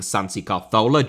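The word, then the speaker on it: Santi Cazorla: his name Santi Carzola, as is my best effort to pronounce his name correctly as Spanish speakers would, I just get called a melt by English speakers down below in the comments.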